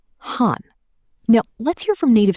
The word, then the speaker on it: haan: In Hindi, we say HAAN.